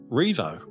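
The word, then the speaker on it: Rievaulx: Now it's spelled really hard, but it's just Revo. Revo. Just Revo, you know, it just is.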